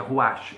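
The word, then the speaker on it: רוח: escrito assim alguns livros roach a pessoa procurar pronuncia ruach é rua rua espelho é um monossílabo rua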